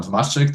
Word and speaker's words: Tomacic: Adam Tomacic, that's right. Okay, together, I pronounced that right, Adam. It took me the whole weekend to get your pronunciation correct.